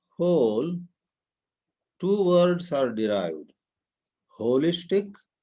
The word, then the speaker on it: wholistic: Holistic, spelled as WHOLISTIC, or holistic, pronunciation is the same, HOLISTIC.